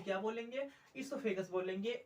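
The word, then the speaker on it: oesophagus: ईसोफेगस बोलेंगे। ओ हमारे यहाँ पे क्या? ओ साइलेंट रहता है।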